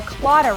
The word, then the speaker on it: Claddagh: or you could run out and buy a CLA ring known worldwide as a symbol of Irish